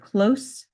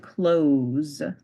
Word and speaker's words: close: pronunciations now we have the word close and close one has an S sound at the end the other has a z sound at the end so